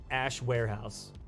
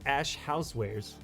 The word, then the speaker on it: Ash Housewares: I always say Warehouse. But it's Ash Housewares 445.